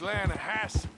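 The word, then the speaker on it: Lannahechee: The other day, I rode down to the Lanahatchee River. I caught some beautiful steelhead trout. You mean the Lanahatchee River? No. The Lanahatchee. It runs right near here. Yeah, but it's pronounced Lanahatchee.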